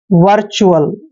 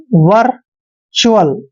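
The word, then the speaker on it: virtual: और च्यूअल यानी कि टी यू ए एल को हमने च्यूअल पढ़ना है, च्यूअल, ऐसे। वर्चुअल, वर्चुअल, वर्चुअल होता है, वर्चुअल मीन्स भी असलियत होता है।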